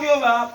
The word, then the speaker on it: Jehová: La pronunciación Jehová proviene del hebreo que para la lectura en la sinagoga YHWH se leía Adonai, que quiere decir el Señor, y que las consonantes del tetragrama se habían añadido a las vocales, dice, de Adonai para recordarle al lector el nombre que debían leer.